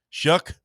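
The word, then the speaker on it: Shough: Shug. Shuck. Yeah. Shuck? Yeah. Like corn? Like shucking corn? Like the expletive, but with an S.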